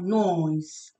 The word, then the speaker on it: noise: This S is pronounced as Z, Z, Z. Noise, right?